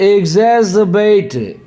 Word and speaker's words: exacerbate: चलिए आज का दूसरा वर्ड है एग्जैजरबेट। एग्जैजरबेट क्या पढ़ेंगे? एग्जैजरबेट। एग्जैजरबेट, EXACRBATE, एग्जैजरबेट। हाँ मेस ये वर्ब है, ये उच्चारण पे ध्यान दीजिएगा।